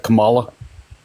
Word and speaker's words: Kamala: Her name is pronounced Kamala Harris.